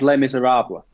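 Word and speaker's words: Les Misérables: The musical is Les Miserables. Correct. Even well pronounced as well.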